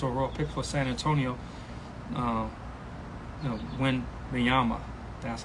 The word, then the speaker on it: Wembanyama: Rookie of the Year, the first pick, Victor Wembanyama, however you pronounce his name, sorry, no disrespect, but Victor, the first overall pick for San Antonio, Wembanyama, that's how you pronounce his name.